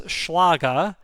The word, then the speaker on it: Schlage: So having a small format or a large format or full size as Schlage, that's how the Germans pronounce Schlag, calls it, removable core can and does change your approach and are not covered in this primer.